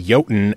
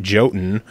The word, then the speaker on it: Jotun: So for the people who don't know what Jotun is, or Jotun, as I was told on your Reddit AMA, it's actually Jotun and not Jotun.